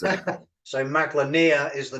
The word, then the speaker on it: Maglania: is it mag Lan name how do you pronounce it so mag lania is the name of the world and so